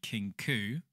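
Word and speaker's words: Kinkou: As resistances began to form across Ionia, a young Kinkau monk... Hi guys, sorry, it's actually pronounced the Kinku and not the Kinkau.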